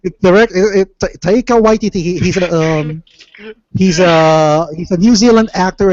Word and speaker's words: Taika Waititi: I may be mispronouncing this name because it's a tad strange to me, but Taika Waititi, or wait, Take out my titty. what? What? It's Taika Waititi.